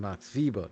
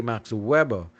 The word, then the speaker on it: Max Weber: 47 from this gentleman Max vber now for those of you who say Max Weber remember Max Weber was German and in Germany the W's are pronounced with a with a V inflection so and why he